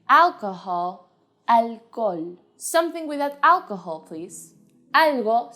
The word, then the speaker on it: alcohol: to the spanish pronunciation the only thing you have to do is ignore the age completely alcohol alcohol something without alcohol please